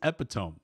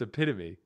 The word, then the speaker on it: epitome: So what is epitome? what is epitome? It's epitome. Whatever. He just mispronounced it.